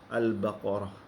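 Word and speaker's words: البقرة: Contohnya al-baqarah. Nah, sebenarnya ditulisnya adalah al-baqaratu, ya. Tapi karena kita wakaf, kita menyebutkan al-baqarah.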